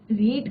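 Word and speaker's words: read: तो a letter is being, रीड का क्या हो जाता है, रीड, रेड, रेड, spelling is the same, bye हर।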